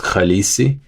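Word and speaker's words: Khaleesi: So, I should have just respled it on my own and just said that the word is pronounced khalesi.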